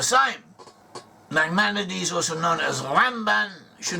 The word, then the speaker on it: Ramban: Nachmanides, also known as Ramban, should not confuse him with Rambam with an M. Rambam is Maimonides, and Ramban with an N is Nachmanides.